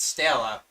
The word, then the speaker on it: Stella: Then you get Stella. This is written as a main true body, but pronounced as Stella, which means celestial star in Latin.